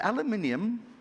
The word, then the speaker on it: aluminium: a massive producer of is it aluminium that's the proper way of pronouncing it yes or is it the other stuff aluminum you know it depends which country you are so we're here you know if you're in france this has a different pronunciation aluminum are you doing the american way aluminum we'll do aluminum uh